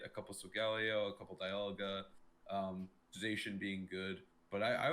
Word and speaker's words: Dialga: we wanted to make Dialga work as well. I think you guys say I think the correct pronunciation is Dialga, right? Yes. Okay, I keep saying Dialga because like that's the German.